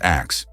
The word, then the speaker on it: ask: For instance, the word ask was actually pronounced as axe.